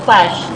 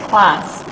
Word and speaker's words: class: So that is not clash, but class.